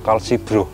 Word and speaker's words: Kalsi-Grow: Jadi pengucapannya tadi Kalsigrow.